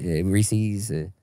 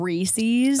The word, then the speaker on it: Reese's: Reese's?